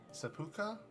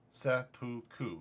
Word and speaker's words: Seppuku: Seppuku, or, Seppuka? Seppuku? I forget how you pronunciate it, sorry. Yeah. I'm not trying to do that to myself, not tonight. Seppuku? Seppuku.